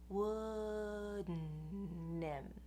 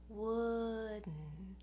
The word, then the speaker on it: wouldn't: So I'm going up for the D, but I'm shifting very quickly into the N. Wouldn't. What it means to shift from the D into the N is that you go up for the D, and then right after that, you send the air through your nose.